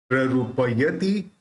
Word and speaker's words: प्ररूपयति: बी है, तो उस प के साथ बिंदी के साथ आधा प अपने को जोड़ना है। रूपम प्ररूप, रूपम प्ररूपयति किन किल धर्म रश्मे है, रूपम प्ररूपयति किन किल धर्म रश्मे है।